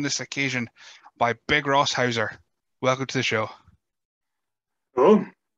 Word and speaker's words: Hauser: am joined on this occasion by Big Ross Hauser. Welcome to the show. Hello. Thank you for having me on. Been looking forward to this. Me too. I'm saying that right. It is Hauser, isn't it?